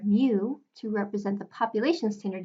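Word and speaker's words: μ: It's actually the Greek letter mu, and it's the Greek letter for their lowercase m. It's pronounced with the M sound, so it makes sense that the M would represent the population mean.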